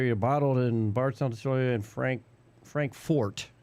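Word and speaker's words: Frankfort: bottled in By and Frank Fort, not Frankfurt because Frankfurt, Germany has a in it, a U. Fort Kentucky, right? And this one was Frank Fort. So, got to say it right.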